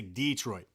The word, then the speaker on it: Detroit: I always say Detroit. D as in the D, not duh.